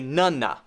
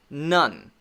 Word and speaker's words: none: You don't want to say nunna, nunna. You don't want to add it. You have to end there. None, none.